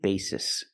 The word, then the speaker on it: basis: the word basis again we have the long a b basis in the word basis both s's are pronounced like true s's there's no z sound it's all true s basis on a daily